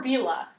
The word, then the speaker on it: Bela: Or Bela, depending how you pronounce it. It's pronounced Bella.